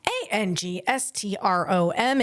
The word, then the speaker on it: angstrom: It's called the 14 Angustrom A N G S T R O M. And you could pronounce that however you want, but I'm going to pronounce it angstrom.